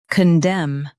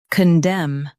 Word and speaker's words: condemn: Condemn. Now read the syllables shown on the screen naturally. Con. Dem. Condemn. Stress dem and keep kun soft.